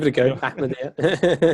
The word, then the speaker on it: Ahmadiyya: You know, Ahmadiyya. Ahmadiyya.